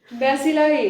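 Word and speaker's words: bacilli: Kochi Kochi cocci cocci, बेसिली बेसिलाई।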